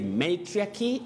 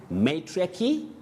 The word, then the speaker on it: matriarchy: oh you say patriarchy that first a takes the sound a or the sounding a which is a glide now you say matriarchy and patriarchy matriarchy patriarchy matron patron so